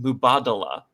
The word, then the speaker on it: Mubadala: And all I have to say really is blame Mubadala, which is apparently how you pronounce that company that is sponsoring the DC Open.